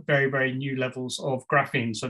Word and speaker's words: graphene: very new levels of graphene so there are new forms frustratingly pronounced the same as graphing but it's felt slightly different um there's a new